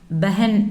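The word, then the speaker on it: बहन: சகோதரி அப்படின்னா பெஹன். பெஹன் அப்படின்னு ப்ரொனவுன்ஸ் பண்ணணும், பெஹன்.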